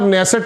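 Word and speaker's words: Knesset: गया और उसके अंदर नेसेसट में उनकी पार्लियामेंट में वैसे तो एन साइलेंट रहता है इसमें वहां उन्होंने कहा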